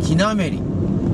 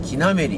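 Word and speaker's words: 木滑: 手取り渓谷、キナメリ、木が滑ると書いてね、木なめりって読むのよ。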